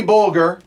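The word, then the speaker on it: Bolger: Soft Bulger. G. Soft G.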